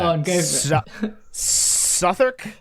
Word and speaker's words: Southwark: Southwark? Southwark, yeah. Oh, most people say like Southwark. Well, yeah, it's spelled Southwark.